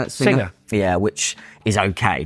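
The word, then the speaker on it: Singha: Singer.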